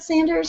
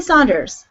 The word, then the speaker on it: Sander: not only agrees with Sanders or Saunders however you want to say his name I'll say Saunders because I'm Canan not there's no s it's Richard sander fine sander um it was amazing